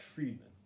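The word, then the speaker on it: Fridman: you it's uh lex friedman it's spelled f-r-i-d-m-a-n but it's pronounced friedman and he in my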